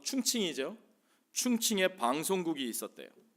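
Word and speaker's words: 重庆: 1945년도에 당시의 임시정부가 머물던 중국 중경, 중국 발음으로 충칭이죠.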